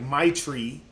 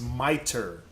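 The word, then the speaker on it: mitre: Google image miter m-i-t-r-e I know it sounds like my tree but it's not remember English is the word is pronounced miter I know I know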